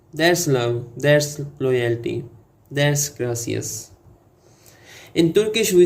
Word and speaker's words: gracias: Say it like gracias. Roll the R like it owes you money.